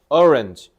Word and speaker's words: orange: 얘네 orange, orange 이런 식으로 강세를 넣어야 알아듣습니다. 알겠죠? 그래서 오렌지 이렇게 그냥 발음만 굴리잖아. 그럼 그냥 병신 같은 발음 되는 거예요. 그러니까 강세를 조심해야 돼.